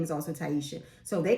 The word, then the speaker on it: Tyesha: So when I moved to Alabama, my name is Taisha. A lot of my family couldn't pronounce it, refused to pronounce it, used to call me Tisha.